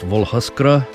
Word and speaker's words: Вуглускр: They say it's pronounced Vugluskur, and it's Ukrainian.